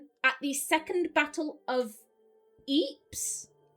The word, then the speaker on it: Ypres: So in 1915, at the Second Battle of Ypres? It's a town in Belgium. It's spelt Y-R-P-E-S.